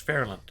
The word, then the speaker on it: Fairyland: I was on a fire truck going down Lookout Mountain towards Fairland. Now, it's called Fairland, but it's spelled Fairland. okay, Fairyland. The y is silent for a It's reason. a silent Y.